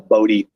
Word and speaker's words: Bodhi: So like I spell Bodhi phonetically, like Bowdee, where I spell like my Bodhi, I spell it like Bodhisattva, like it's like Bodhi, like the tree.